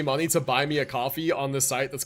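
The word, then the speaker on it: Ko-fi: I thought it's pronounced coffee. I think that's the point. But if I just say coffee, it's going to be confusing. So, I say Kofi like loi like whatever. It probably is pronounced coffee because that was the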